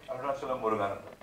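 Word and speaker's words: Arunachalam Muruganantham: Arunachalam Muruganandan.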